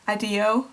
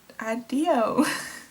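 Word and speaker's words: adijo: I assume that this word is pronounced adio, so adio, and thank you for watching.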